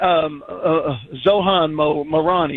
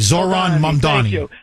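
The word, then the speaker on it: Zohran Mamdani: This guy, Zohan Marani, or whatever the hell. Mamdani, Zoran Mamdani.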